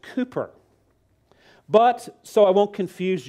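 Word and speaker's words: Cowper: was william calper now in britain his last name is pronounced cooper but so i won't confuse you i'll stick to our american mispronunciation calper brit might say well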